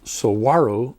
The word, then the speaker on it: saguaro: to pronounce saguaro saguaro it's not sagu the g's here are w's and if you drive up to phoenix on i-10 and you go past the indian reservation it's not the gila indian reservation it's the gila in that case the the g is an h but in the case of sowaru the g is a w is there every time